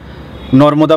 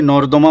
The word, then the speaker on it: নর্মদা: না মন খুশি হবেন বহু মানুষের ক্ষেত্রে আমি এটা শুনেছি দেখেছি অনেকে কমেন্ট বক্সে লিখেছেন নর্মদা বলতে গিয়ে নরদমা উচ্চারণ বের হয় একটা সত্যি কথা বলি আমারও